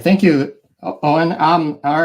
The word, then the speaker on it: Eoin: It's pronounced Owen. It's pronounced exactly the way it's spelled, silent E in 2 syllables.